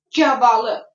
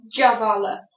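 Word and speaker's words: gavalı: You say cavalı. Cavalı. With G sound.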